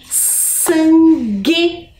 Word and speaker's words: sangue: Então, temos lá sangue, guitarra. Percebam que temos também o G com U, mas ao fazer a pronúncia, eu não escuto o som da vogal U.